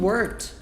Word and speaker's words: worked: Nessa frase a gente tem o worked. Worked. Não é worked, é worked. A pronúncia é como se fosse assim, ó. Worked. Worked. Esse Tzinho, esse som de T no final é bem levinho.